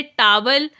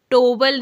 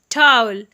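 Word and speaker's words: towel: दो give me टावल आपने टावल टोबल नहीं बोलना है आप क्या बोलेंगे टाल गिव मी टावल अपना चेहरा पोंछ लो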